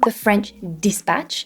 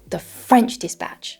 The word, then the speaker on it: The French Dispatch: ination instead of saying the French dispatch which would be uh the most correct way to say this he said the French dispatch French dispatch uh instead of saying Interstellar he said Interstellar Interstellar obviously this is not